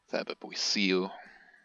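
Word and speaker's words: Thaba Bosiu: Alright, we can't even build a Sangomas in Thababosiu.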